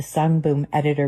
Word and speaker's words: Sungboon Editor: I think it's very obvious here because first of all, she gets the brand name wrong. Sunboom editor.